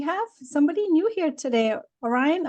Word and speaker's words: Orion: somebody new here today Orion am I spelling your pronouncing your name right yeah you oh great welcome